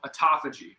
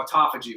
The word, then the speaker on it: autophagy: So okay, so when you fast for more than 12 hours, your body does something that's called autophagy, it's autophagy. There's a bunch of different ways to pronounce it, but it's basically the removal of senescent cells.